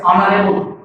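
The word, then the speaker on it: honorable: इस चीज को आपको ध्यान देना है कि यदि कॉन्सोनेंट से शुरू भी हो रहा है लेकिन इसका जो उच्चारण होता है, साउंड होता है, वो वावेल से शुरू होता है।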